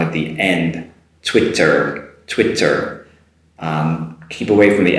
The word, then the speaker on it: Twitter: a huge problem but it's not ts sound in there it's a tw sound it's twit so it's twitter make sure you make that r sound at the end twitter twitter keep away from